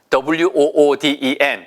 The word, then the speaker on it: wooden: W-O-O-D-E-N. 이것도 역시 wood에서 나온 거죠. 발음이 절대 wood 아니고요. 보세요. 입술을 내민 상태에서 시작하셔야 돼요.